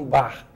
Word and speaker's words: Bach: Johann Sebastian Bach, e a pronúncia é como se fosse bar, dita por um carioca, Johann Sebastian Bach.